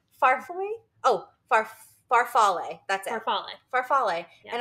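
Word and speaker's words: farfalle: I feel like need to know how it's pronounced farf oh far faral that's it farf faral and I said oh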